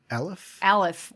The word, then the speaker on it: Aleph: And how do you pronounce the letter again? Aleph? Aleph.